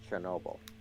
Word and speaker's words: Chernobyl: It's pronounced Chernobyl.